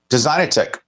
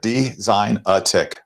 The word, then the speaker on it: Designatic: front of you right designer tick right just as you would think it looks like uh the pronunciation guide there design a tick right and i am